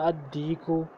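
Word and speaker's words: الصديق: तो इसमें हम पढ़ेंगे अन नजमु, लाम को साइलेंट कर दिया, अर्रजुलु लाम को साइलेंट कर दिया, अद्दीकु लाम को फिर साइलेंट कर दिया, अत्तालिबु लाम को साइलेंट कर दिया।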